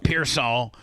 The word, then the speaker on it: Pearsall: How do you say his name? Pearsall.